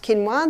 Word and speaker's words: quinoa: become familiar with it's spelled quoa but it's pronounced quinoa the Aztecs love their quinoa Aussies is starting